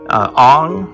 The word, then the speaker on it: Aang: have the avatar himself ong or aang depending i guess there's a little controversy about the pronunciation in the cartoon series versus the recent movie but however you pronounce